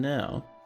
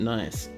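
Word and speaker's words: gneiss: over this way and now oh snap of touched winter nice pronounced nice yeah I know it's pronounced n however pronouncing it nice means for more funny shenanigans so n plural n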